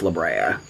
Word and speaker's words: La Brea: fall into this sinkhole one it's and it's pronounced la brea i know that now after watching five episodes